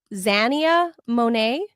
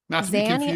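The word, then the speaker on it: Xania Monet: pronounce this exactly, but I think it's Zania Monae. Correct. X A X A N I A Zia. Zania like Xanax.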